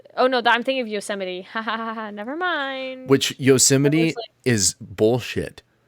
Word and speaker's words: Yosemite: it's yosamite it's yozamite god damn it no it is yo it is yosemite that is the way that they say it but it's [ __